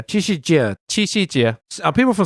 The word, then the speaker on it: Qi Xi Jie: How do you pronounce that thing? The ox and the girl. Xi Jinping holiday. Qi Xi Jie. Qi Xi Jie.